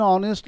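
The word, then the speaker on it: honest: एन ऑनेस्ट लिखते हैं। ठीक है? कभी ए ऑनेस्ट का प्रयोग नहीं कर सकते हैं। तो यहां पर एच क्या रहता है? बोलो साइलेंट रह जाता है।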